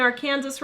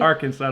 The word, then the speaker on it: Arkansas: There's a major outbreak of mumps in Arkansas right now. They are blaming... That would be Arkansas to the rest of you.